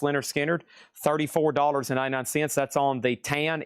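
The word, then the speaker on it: Lynyrd Skynyrd: Next over here is Leonard Skinner, pronounced Leonard Skinner, $34.99.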